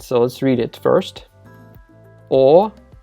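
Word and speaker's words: Огайо: So why did we spell it with a G in Russian if we do have the H sound, right? We could have just spelled it as Ohio.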